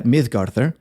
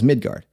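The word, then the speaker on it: Miðgarðr: yelton hostility and they call this protected area mythgar which you will commonly hear pronounced as midgard it means literally the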